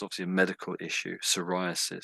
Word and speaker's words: psoriasis: obviously a medical issue psoriasis. So the P is silent. You could say psoriasis.